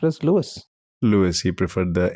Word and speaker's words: Louis: but he himself used Lewis and if anybody ever pointed out that since it's originally a French name it should be pronounced Louie he would always reply